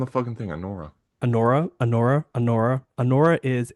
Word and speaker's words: Anora: you know, um but yeah, so she plays Allora. And Allora, I'm going to say her name wrong every time she It's right on the thing. Anora.